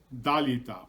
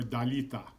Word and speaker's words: Dalita: In our Western Armenian dialect, Talitha, which means little girl, is pronounced Dalita or Dalita.